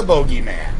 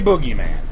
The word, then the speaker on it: bogeyman: the babadook yeah actually that was the bogeyman possibly boogeyman depending on how you say it you can hear it both ways even mr.